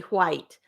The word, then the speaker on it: white: I used to get picked on for how I say white because I pronounce the H.